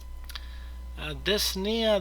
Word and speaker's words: dyspnea: Dyspnea, the P is usually not pronounced, or shortness of breath, is the person has a difficulty breathing.